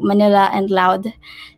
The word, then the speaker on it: MANILAud: software through manila manila so we pronounce it this one allowed so manila and loud to show metro manila